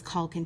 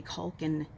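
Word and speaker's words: Culkin: overriding sense is that it is pronounced with the same vowel sound as the first name.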